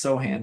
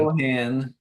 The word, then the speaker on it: Sochan: Sochan is it's Sohan, by the way. It's Jeremy Sochan. Sohan It's spelled Sochan.